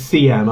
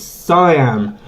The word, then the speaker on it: Siam: your name wrong emmett people call me siam all the time and it pisses me off all my life people always mispronounce my name as cm i'm like no it's siam um so i'm sorry